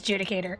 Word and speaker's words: Judicator: Sh uh pro no oops pronunciation it is judicator. Okay. So, I wasn't wrong.